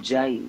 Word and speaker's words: Jai: so just pronounce it Jai, put an accent on the I and say Jai Yeah, Kingston.